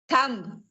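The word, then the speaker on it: thumb: टी एच यू एम बी य अंगूठा होता थम थम नहीं होगा इस थम थ बी साउंड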